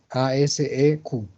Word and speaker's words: ASEQ: Entonces para eso se escribe ASEQ, A-S-E-Q, como en las siglas Alpha Sequence.